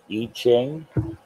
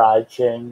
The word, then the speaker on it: I Ching: okay next i'm gonna need e ching or i ching whichever way you want to pronounce it then i'll be doing